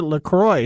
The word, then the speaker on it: LaCroix: word Canadian in it you should pronounce it Lacroix so it even sounds